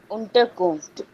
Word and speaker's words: Unterkunft: Unterkunft. Ja, Unterkunft. Unter. Punktbestresse. Punktbestresse. Unterkunft. Is it Unterkunft or Unterkunft? Unterkunft. Unterkunft. The stress is on the first one.